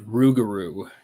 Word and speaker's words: Rougarou: bayous at night looking for a I can't pronounce the name. Can you say it one more time? The Rougarou. Rougarou.